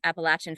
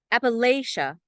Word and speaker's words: Appalachia: epigraph by Sharon mccrum Appalachia is the pronunciation of condescension the pronunciation of the imperialists the people who do not want to be associated with the place and the pronunciation Appalachia means that you are on the side that we trust so here's my poem